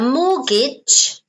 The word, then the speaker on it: mortgage: oh sorry okay a mortgage here notice the pronunciation M Mortgage mortgage mortgage okay so a mortgage